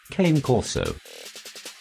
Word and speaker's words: Cane Corso: Cane Corso. Pronounced cane corso from Italian cane and corso, also